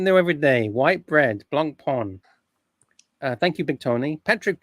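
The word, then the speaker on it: Blancpain: How do you pronounce Blanc Pan?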